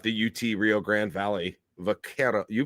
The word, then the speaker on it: Vaqueros: I have some exciting news for you about the UT Rio Grande Valley Vaquero. You pronounced it very nicely.